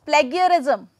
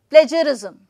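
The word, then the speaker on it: plagiarism: comes to this word many students will speak it as plagarism as plagarism right but when it comes to the exact received pronunciation that will be PL J plagurism right plagurism so this is the difference of of two words when it pronounced they are pronounced correctly or incorrectly this is all about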